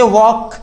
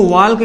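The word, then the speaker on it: walk: इसे वॉक कहा जाता है। अगर हम इसको वॉल्क कहते हैं, यानी वॉल्क, तो ये क्या होता है? गलत होता है।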